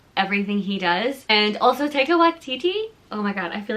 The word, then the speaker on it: Taika Waititi: My favorite, I love Joe Keery and like everything he does, and also Taika Waititi. Oh my god, I feel like I said that name wrong. Taika Waititi.